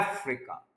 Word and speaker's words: Africa: उसके बाद प्रोनाउंसिएशन जो है, उसमें एक वर्ड हम बोलते हैं अफ्रीका, एक कॉन्टिनेंट का नाम है, लेकिन ये वर्ड अफ्रीका नहीं होता। ये ए और एफ को आपने ज्यादा स्ट्रेस करना है, अफ्रीका, अफ्रीका, यानी आर आई